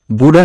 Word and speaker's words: বুড়ো: Hero heroine বুড়ো হয়ে যায়, বাট তাদের দেখলে মনে হয় বুড়ো হয়ে যায়। বুড়া নয়, বুড়ো হবে।